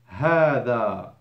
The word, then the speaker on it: هذا: As you see, I've put the alif between the ha and the dal. That is a must to be pronounced, but forbidden to be written. هذا alif between the ha and the dal.